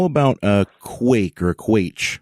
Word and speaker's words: quaich: How about a quake or a quaich? How do you pronounce that? Yeah, quake. Yeah, quake. So it's spelled Quaich is a quake.